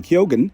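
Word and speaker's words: Keoghan: lafalkan menjadi zenda lalu Barry kogen yang sering dilafalkan tanpa huruf g ada lagi kata lama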